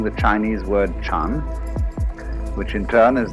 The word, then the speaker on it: Chan: So then, this word Zen is Japanese way of pronouncing the Chinese word Chan, which in turn is the Chinese way of pronouncing the Sanskrit word jhana.